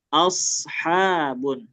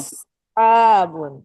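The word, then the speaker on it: أصحاب: Nah, coba jangan monyong, jangan aus a aus jangan asabun.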